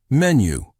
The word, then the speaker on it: menu: Another word is menu. Say menu. Pay attention to the new sound at the end.